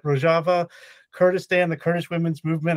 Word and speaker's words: Rojava: it wrong again no I said it right rojava Kurdistan the Kurdish women's movement I mean Democratic